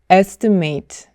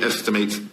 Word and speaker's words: estimate: 그대로 ate라고 발음이 되지만 형용사나 명사로 바뀔 때는 ate가 it로 바뀌어요. 그래서 추산하다라고 동사로 사용할 때는 estimate. You have, I estimate, 20 minutes. You have, I estimate, 20 minutes. 명사로 사용할 때는 estimate 이렇게 발음이 돼요. 제 강세는 첫 번째 음절에 오기 때문에 estimate.